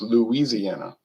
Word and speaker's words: Louisiana: It's Louisiana.